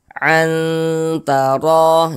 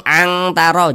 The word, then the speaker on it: antaro: Kita baca antaro, jangan dibaca angtaro, jangan.